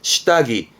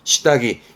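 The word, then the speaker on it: 下着: 발음은 시다기. 요거 때문에 공부했던 부분이 있습니다. 그죠? 시다기.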